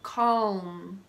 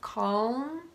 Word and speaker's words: calm: in these three words the L comes before the letter M it's easy to pronounce subtly by simply lifting your tongue to the top of your mouth as you come into the letter M so calm you can differentiate the sound of calm from calm like dot-com